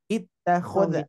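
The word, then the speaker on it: اتَّخَذَ: Ittakhadha gitu ya. Kalau misalkan kenapa dibaca kasroh? Karena harokat yang ketiganya berharokat fathah.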